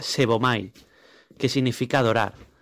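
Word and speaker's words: σέβομαι: Y la segunda derivación de la palabra piadoso es la 4576 en griego, que se pronuncia sebomai, que significa adorar.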